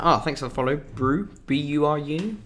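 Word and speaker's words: Buru: Oh, thanks for the follow, Brew, B-U-R-U, Brew. So I'm so bad. I have to try and remember pronouncing everybody's usernames on here.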